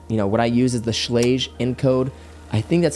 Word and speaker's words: Schlage: I tell people that, what I use is the Schlage encode. I think that's how you say it, Schlage, Schlooge, whatever.